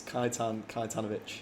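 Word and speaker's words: Kajetan Kajetanowicz: in car number three Jack how do you pronounce his name it's kaitan kitanovic you're such a showoff I knew he would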